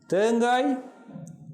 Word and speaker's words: தேங்காய்: வேகம் பாருங்கள் H sound, தாகம் H சவுண்ட், தேங்காய் G சவுண்ட், செய்கை H, வாழ்க H. அப்போ இங்கே வேறுபட்டு ஒலிக்கிற சொல் தேங்காய், ஏன்னா அங்கே G சவுண்டிலே ககரம் ஒலிக்கிறது.